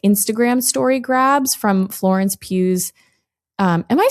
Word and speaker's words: Pugh: Okay, we have to talk about the the curious case of the faked Florence Pugh Botox photos.